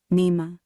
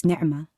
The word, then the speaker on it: Nima: this up nema well really it's nerma mispronounced at school to sound like the middle of the word animal or stretched into a whining nema no letter in english for the snarling sound that centers my name its little growl nerma